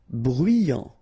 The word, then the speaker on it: bruyant: Bruyant, final T not pronounced, so you get bruyant, okay?